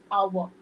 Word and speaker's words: hour: hour. I will be there in an hour. Again, H is silent over there or a short vowel sound is being produced.